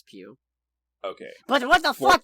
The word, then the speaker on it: Pugh: Okay, it is Pugh. I just looked it up. I'm real happy for you, and I'm gonna let you finish, but it is pronounced Pugh.